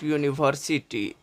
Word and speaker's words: university: europeum so question number six dot dot dot University starting letter is new so it is also called Vel letter but pronounces is University U is hide University so